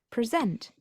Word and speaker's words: present: the stressed syllable changes present as a verb meaning to give a talk has the stress on the second syllable the noun presentation has